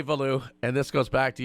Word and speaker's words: Veilleux: In French, it is Veilleux. But thank you. I feel vindicated that I've been maintaining that all along. Sorry, keep going. Yeah, but growing up in Connecticut, it's kind of hard to teach people how to pronounce stuff in French. So Veilleux is what we tell everyone. But if you ask going back to Quebec, if you ask my family, it's always Veilleux.